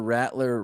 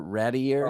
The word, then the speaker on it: Rattler: Are you pronouncing Spencer Rattler? Rattier.